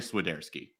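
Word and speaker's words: Świderski: Well, actually, it might be Carl. I don't know. Like, I don't know if it's Carl, but it's definitely Swiderski. Okay, Swiderski.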